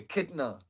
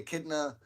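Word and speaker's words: echidna: The other is called the akidna.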